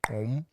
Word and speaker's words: gqom: But there's another sound that prior to Amapiano, which is, it's spelled GQOM, but it's pronounced om.